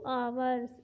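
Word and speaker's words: hours: तो सेंटेंस बनाएंगे Suresh has been cycling for 2 आवर्स। H silent रहेगा, इसलिए यहाँ पे इसे आवर्स पढ़ेंगे।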